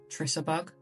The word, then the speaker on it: Trissa Bug: I call her Charissa Bug, but I think she's called Trissa Bug. I'm sure that's how you pronounce it.